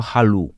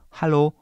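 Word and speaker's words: Hallo: w kierunku u to nie można powiedzieć to jako Hal bo to byłoby też niepoprawne tylko halo hal które jest troszeczkę zaokrąglone zamknięte natomiast druga wersja tego samego słowa jest akcentowana jak tutaj widzisz na to drugie na drugą samogłoskę i wtedy to o czytamy bardzo długo Hal Hal Hal dwie możliwości kolejne słowo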